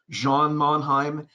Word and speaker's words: Jean Mannheim: So this is, we would pronounce Jean Mannheim, but I believe his pronunciation was French or Germanic, Jean Mannheim.